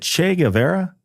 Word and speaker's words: Che Guevara: young woman, and I never know if I pronounce this name correct. Is it Che Guevara?